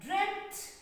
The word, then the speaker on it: dreamt: you have to remember like this word dreamt dream like drent d r e a m t this is also correct